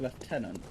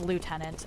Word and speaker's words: lieutenant: In Britain and Canada, left tenant is pronounced left tenant and colonel is pronounced colonel.